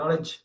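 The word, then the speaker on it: knowledge: நாலேஜ் நாலேஜ் நாலேஜ் நாலேஜ்.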